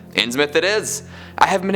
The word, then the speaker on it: Innsmouth: Little V says, Innsmouth is pronounced Innsmouth with a short M. Innsmouth it is.